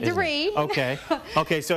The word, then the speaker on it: de Riz: And your name is pronounced De Ritz too. Brandi De Ritz.